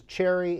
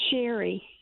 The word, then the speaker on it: Sherry: This is Cherry in Pensacola, Florida. Cherry, what do you think? It's Sherry. Oh, I'm so sorry. But it's spelled Cherry, isn't it? An SH. It is an SH.